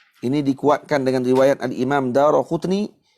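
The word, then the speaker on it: الدارقطني: Ini dikuatkan dengan riwayat Al-Imam Daraqutni. Ingatlah baca Al-Imam Daraqutni, jangan baca Daruqutni.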